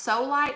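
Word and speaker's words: Solight: the lids again is i think it's pronounced solid s-o-l-i-g-h-t um this one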